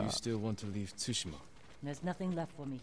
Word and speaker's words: Tsushima: Tsushima, the T is silent. I used to say Tsushima.